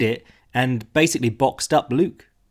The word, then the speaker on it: Luque: and basically boxed up luke or luke people get mad if i say it wrong and i like to say it both ways to get everyone mad but that also set